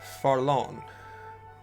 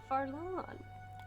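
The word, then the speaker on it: Fharlanghn: His name is Farlon. Farlon. It's really fucking weird to spell it, so. All those taking notes. F-H-A-R-L-A-N-G-H-N. It's too many letters.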